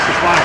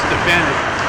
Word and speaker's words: Stefanik: I've always been saying Stefanik. I learned it's Stefanik.